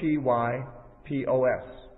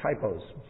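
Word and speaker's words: τύπος: basically a transliteration of a Greek word, typos, which is spelled T-Y-P-O-S. It looks like typos, like typographical errors, but it's typos in the Greek.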